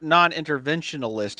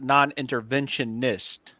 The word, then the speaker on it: non-interventionist: a little bit it's it's not pronounced inter non- interventionalist it's pronounced non-interventionist okay thank you I just I just didn't